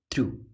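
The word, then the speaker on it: through: Long जा रहा है, थ्रू। जी एच को यहाँ पे प्रोनाउंसिएशन नहीं करेंगे, जी एच जो है वो प्रोनाउंस नहीं किया जाएगा।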